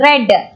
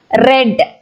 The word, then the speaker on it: read: But when you're using the same word in the past tense, you should read it as red. The spelling is R E A D only. But the pronunciation red.